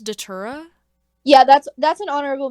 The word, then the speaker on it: Datura: Summer mixtape okay uh Boston Manor is it pronounced datura yeah that's that's an honorable mention that's my